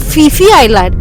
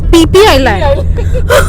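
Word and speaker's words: Phi Phi: It's not Fifi Island, it's PP Island. It's too much. Here basically H is not pronounced.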